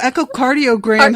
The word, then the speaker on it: echocardiogram: like i don't know echocardiogram has a hard c which sounds like a k so i guess we'll